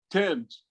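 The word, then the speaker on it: Thames: the river things of the river uh they pronounce it tim's is drying up now y'all in england it's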